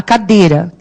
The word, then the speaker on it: cadeira: A gente fala, a cadeira quebrou, não é assim? Então, quando você percebe que o I, aí no caso, nem tem som, certo?